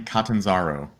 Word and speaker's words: Catanzaro: my name is katanzaro it's an Italian name pronounced it very like latinate you know yeah so